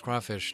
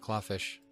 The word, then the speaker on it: crawfish: I already told you it's crawfish not claw fish I'm right there with